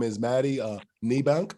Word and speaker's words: Niebanck: survivor as well her name is maddie uh nibank how you doing maddie she's from new jersey